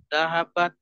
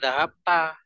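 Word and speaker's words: ذهبت: Dahabat. Bukan dahabta. Antum tadi bacanya ada dahabta, ada dahabtu, macam-macam. Begitu, Diana ya.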